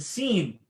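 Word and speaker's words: سين: That's the scene. Good. Okay. Teeth. You see the teeth when you say it.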